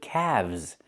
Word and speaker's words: calves: Or you have two calves, not calves, but calves. The L is silent and we pronounce the V sound with vibration plus the Z sound like zebra together. Calves.